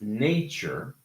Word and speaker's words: nature: So, this first word is pronounced nature with a round A.